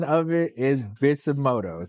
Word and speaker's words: Bisutomodo: So the pronunciation of it is Bisutomodo. So the T is actually silent in it. So it's Bisutomodo Entertainment, right?